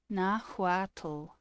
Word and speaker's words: Nahuatl: Nahuatl. So you have to say the tl, not the tl, like Nahuatl, like that.